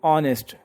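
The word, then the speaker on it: honest: शुरू हो रहा है, ऑनेस्ट। हालांकि साउंड क्या बननी है, इसमें एच साइलेंट है, एच की आवाज़ ही नहीं आ रही, और क्या बनना है, ऑनेस्ट, ओ की साउंड बन रही है,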